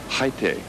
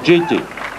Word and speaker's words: Jaite: Haite, through an interpreter yesterday, was trying to explain the correct pronunciation of his name. In Spanish, it's Haite. But some of the Americans were having a difficult time pronouncing it that way. Finally, he said, "You can